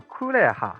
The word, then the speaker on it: 红霸: 红霸的日文读音是 Kureha，它另外一个写法是红叶，这个就非常女性了。